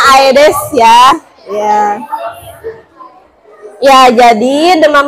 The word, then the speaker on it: Aedes: apa nyamuk nyamuk apa nyamuk apa Hah nyamuk Aedes aigipti bacanya Aedes ya iya ya jadi demam berdarah itu eh